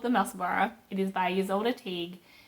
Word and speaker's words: Musselburgh: This is a Musselboro hat. Spelt Musselburgh, like Edinburgh. Edinburgh is spelled Edinburgh, but it's pronounced Musselboro, like Edinburgh.